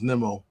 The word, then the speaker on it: Nimmo: I call him Nemo, but his actual pronunciation is Nimmo.